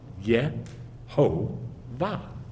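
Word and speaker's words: יהוה: Which has these letters, Yod, Hey, Vav, Hey, and it gets squashed together to Yeh-Ho-Vah.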